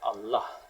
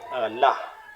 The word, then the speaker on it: Allah: kapangalan ng tao walang Allah kasi ang pag pronounce diyan ay malaking Allah double L yun eh Allah mayon Allah pero hindi Allah pero walang tao na